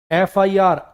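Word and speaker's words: FIR: करना पड़ेगा उसने एक एफआईआर लॉज कर दी रजत के खिलाफ क्योंकि वो उसके पैसे वापस नहीं कर रहा था एफआईआर एफआईआर अ बोले बिना इसको बोल नहीं पाओगे आप फिर थोड़ी है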